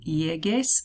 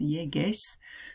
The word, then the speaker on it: llegues: It's one of those spell change ones because otherwise it'd be pronounced llegues. It's not what it is. It's llegues. So the G turns into a GU actually.